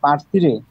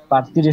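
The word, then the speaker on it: partire: আচ্ছা, লাস্টের যে পার্থিরে হবে এটা পি, তারপরে আ এর রে, পার, টি ই এর রে এ, পার্থিরে, পার্থিরে শব্দের অর্থ রওনা দেওয়া।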